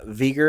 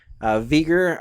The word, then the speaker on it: Veger: Veger, I hope this is how you pronounce it. It's Veger.